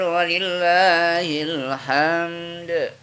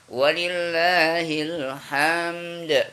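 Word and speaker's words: وَلِلّٰهِ الْحَمْد: Allahu Akbar, Allahu Akbar, La ilaha illallah, Allahu Akbar, Allahu Akbar, walillahil hamd. Ingat bacanya walillahil hamd, bukan walillahil ham. Dalnya hilang. Walillahil hamd.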